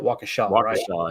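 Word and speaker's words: Waukesha: Wisconsin wakaa is that how you say it wakaa yeah there you go he attended Wisconsin Lutheran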